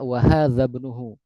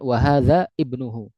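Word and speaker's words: وهذا ابنه: tapi tidak ter terucap jadi tidak dibaca hadza ibnuhu tapi dia langsung disambung hadza ibnuhu dihilangkan dalam pengucapan ee dihilangkan kan hamzahnya di dalam pengucapan. Jadi dibacanya wahadza bnuhu wahadza bnuhu bukan wahadza ibnuhu tiib.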